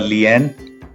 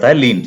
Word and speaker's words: lien: is called as a Lien On the other hand, if we have a look at the American English Then it is pronounced as "Leen".